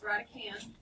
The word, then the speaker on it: radicand: it's called the radicand the d on the end is silent it's not right adult it's radicand it cannot be negative